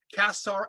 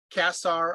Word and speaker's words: Qasr: The place is called Kasar Antar, and it is the highest known temple in the ancient world. In shape, Kasar, I'll spell it Qasr, Antar, Antar, is a rectangular